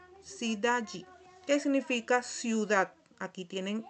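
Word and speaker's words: cidade: Por lo menos aquí tenemos el ejemplo sidaji. Sidayi, ¿qué significa? Ciudad. Aquí tienen cómo se pronuncia en portugués.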